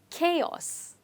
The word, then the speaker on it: chaos: have this word so you have to be careful with c and h over here because they don't have the sound j which these two letters when they come together generally have but here the sound is ka ka which is chaos let's try it together